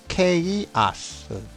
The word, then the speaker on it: chaos: 이거를 발음하면은 chaos, 혼돈, 혼란, 개판, chaos 이겁니다.